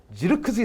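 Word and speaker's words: Zirkzee: 살 2001년 5월 생 네덜란드 공격수 요 슈와 지르 크지 선수 이렇게 된다 이게 잉글리시 코멘트 l 발음을 이제 옮겨 드리면 절 크 스 이라고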